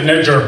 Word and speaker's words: Nijjar: Last name's Nijjar, Brian. Don't be racist. Rhymes with JT, the bigger figure.